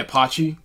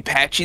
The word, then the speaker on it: Patchy: pirate is um yeah Apache you mean Patchy the Pirate he's pronounced it as pachy that's I'm sorry just